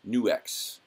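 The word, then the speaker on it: NUX: for you or every new ex I always forget how to say it's not knucks its new ex Cerberus the other day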